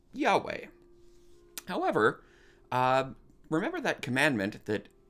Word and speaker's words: Yahweh: Typically, in English, we would say that that is pronounced probably Yahweh.